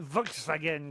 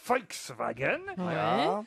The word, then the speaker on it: Volkswagen: main zuma freaks burqa c'est en fait l'usiné volkswagen tabac afghane si vous préférez voilà exactement ici vous allez danseuses dont soldes bourg à wolfsburg il y a le musée volks wagen et si vous allez dans ce musée vous